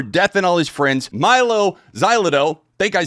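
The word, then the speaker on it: Mylo Xyloto: Milo Xylo.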